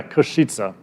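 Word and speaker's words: Košice: that says that word if you remember sheets that'll help you to remember how to pronounce this so just remember the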